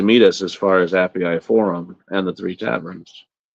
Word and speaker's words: Appii: us as far as Appy Forum. I found out. I'm So looking. I'm looking at the pronunciation of that. I pronounced that wrong. That's the Appii.